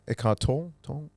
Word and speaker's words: Eckhart Tolle: say his name is it's a bit uh eckhart tolle it caught totally there you are yeah so